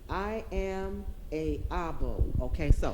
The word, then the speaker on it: I Am a Abo: I am a Abo.